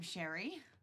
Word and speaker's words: Sherry: I'm Sherry, rhymes with canary.